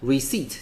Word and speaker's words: receipt: A businessman is collecting receipts.A businessman is collecting receipt，这个字的发音要特别注意一下 receipt 的这个 P 是不发音的所以呢你要这样发音，你听到的时候才会是正确的 receipt OK。